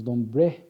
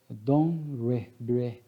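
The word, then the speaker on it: Dombre: Ele, na época nós falamos Dombré, né, mas aqui a pronúncia francesa, conforme alguns amigos, é Domré, né?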